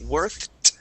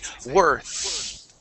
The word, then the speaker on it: worth: our tongue here okay you're adding a t sound at the end saying worth okay uh we want to eliminate that t sound okay so let's say worth release there that's it